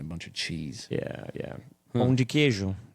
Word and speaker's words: pão de queijo: Pão de queijo.